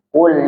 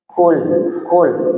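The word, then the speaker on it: قُل: Tapi kalau kadang kita keliru membacanya dengan huruf kaf, karena ini huruf qaf dan kaf memiliki makhraj yang sama, itu keliru bacanya, maka akan merusak makna.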